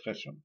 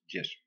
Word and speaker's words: yeso: hemos empezado a utilizar llamándolo geso pero no es geso es yeso sol le damos unas